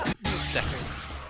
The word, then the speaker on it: Deku: But then I spoke to somebody who speaks some Japanese, and was like, no, it's Deku. It's a short E sound, just like in English.